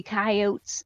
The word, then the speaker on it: coyote: i got star nasty coyotes no it's coyote it's a spanish word i've got a friend